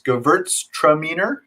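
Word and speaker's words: Gewürztraminer: mentioned at the beginning of class uh the pronunciation is gewurztraminer uh so we talked about burn castellar a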